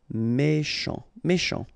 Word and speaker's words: méchant: Final T not pronounced. C-H together, sh. Méchant.